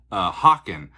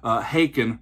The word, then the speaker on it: Haken: And I thought it was called Haken. They're like, no, Haken rhymes with bacon.